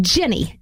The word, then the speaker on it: Ginny: Jenny. And that's spelled Ginny.